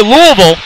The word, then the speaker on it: Louisville: both played Louisville and I say Louisville because I know I got on a Kentucky fans watching me and I'm not gonna say it wrong we're from Jersey folks